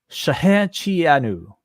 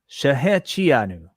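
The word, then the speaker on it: Shehecheyanu: Rebar Mitzvah Revere himself, has a proper pronunciation. Thank you so much, John, for the super chat. He says Shahechianu. Shahechianu.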